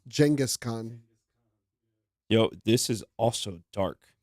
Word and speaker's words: Genghis Khan: you know funny enough people say his name incorrectly it's Genghis Khan yo this is also